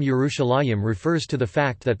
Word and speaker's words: Yerushalayim: suggestion that the name Yerushalayim refers to the fact that the city initially sat on two hills. However, the pronunciation of the last syllable as a yim appears to be a late development, which had not yet